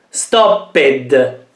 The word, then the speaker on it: stopped: Stopped. Qui la parola finisce con una P, un suono forte, e quindi prende sempre la T come suono.